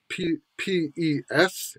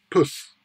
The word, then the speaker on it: pes: that might be spelled P-E-S in English, which you would say is pes, maybe pronounced pes or pace. In fact, it's pronounced puss. Puss. So that E is just reduced.